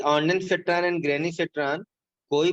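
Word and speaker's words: Ondansetron: ऑन्डान बल्कि बोल दो, ऑन्डान फेट्रान, है ना, डेन से थोड़ा कंफ्यूजन हो रहा है, तो ऑन्डान फेट्रान।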